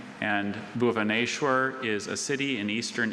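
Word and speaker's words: Bhubaneshwar: It is a South Asian geographical name, and Bhuvaneshwar is a city in eastern India south of Cuttack.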